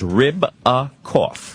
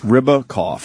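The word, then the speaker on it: Ribacoff: your last name there it's just like it sounds rib a cough rib a cough okay ribs with a cough founder and CEO of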